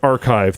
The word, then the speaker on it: arXiv: And I also RX is actually pronounced archive. The X is Greek.